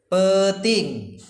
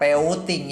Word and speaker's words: peting: Peting. Ini bacanya bukan peuting ya, tapi peting.